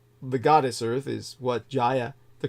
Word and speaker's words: Gaia: the way is not Gaia I say that because most people read it that way English speakers the correct pronunciation is Jaya Jaya like geography but like the original Greek pronunciation the original Atlantic would